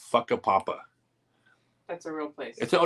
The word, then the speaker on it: Whakapapa: real place it's called whakapapa um it's spelled completely different but it's a mayori word I think and on the Wikipedia page it actually says it's pronounced a papa I want to go